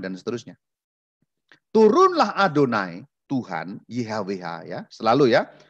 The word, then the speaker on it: YHWH: Tuhan berseru Tuhan Tuhan tulisannya ih WH di hbh dibacanya adonai adonai terjemahannya tuhan-tuhan itu rumitnya